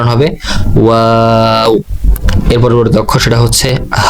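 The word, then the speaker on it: واو: এর উচ্চারণ হবে ওয়াও।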